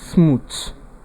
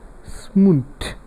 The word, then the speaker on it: smooth: word then the given word yeah popularly people pronounce it as smooth the th by people's pronunciation no it is not smooth it is pronounced as smooth smooth so it is not by its transcription